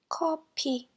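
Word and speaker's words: 커피: Copy, copy. F sound is replaced with a P.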